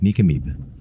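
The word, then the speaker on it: Nk'Mip: Nikameib is how it's pronounced.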